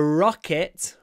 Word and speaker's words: rocket: 20 seconds the rocket look at my mouth rocket I pronounced almost the whole word with my mouth open Rocket I only close it to say t at the end rocket rocket rocket rocket